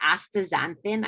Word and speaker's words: astaxanthin: That astaxanthin, I always worry I say that wrong, that's a super powerful antioxidant, carotenoid. I said it right the first time.